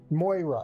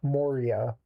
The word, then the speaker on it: Moira: Wait, was it Moira or Mor? Moira. I've been pronouncing it wrong the whole time. Moira, not Moria.